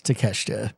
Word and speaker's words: Takeshita: yeah, it's Takeshita.